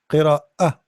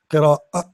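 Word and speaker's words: قراءة: Qira'a, qira'a. See here, with the Hamza, if there is something jumping, it's not alif, it is qira'a, not not as alif, like a, no, qira'a, qira'a, qira'a.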